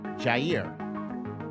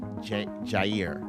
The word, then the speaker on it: Jair: Javier, where's the V? I don't see the V in his name. It's spelled Jair. I don't see a V in there.